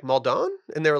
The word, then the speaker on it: Maldon: you pronounce flaky I I say maldon I said I said I I said muldone one time and someone was like yeah I think you're clashing it up too much and then I went